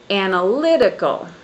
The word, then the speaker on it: analytical: And in in in these examples, the first word is analytical and the the syllable stress is on the third syllable.